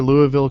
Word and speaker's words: Louisville: I'm near Louisville, Kentucky.